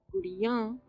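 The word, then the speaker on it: गुड़ियाँ: Gudiya, gudiyan is dolls. Gudiyan. So chidiya, chidiyan, bandariya, bandariyan, bitiya, bitiyan, gudiya, gudiyan. They're very similar, but there is an extra nasal sound at the end.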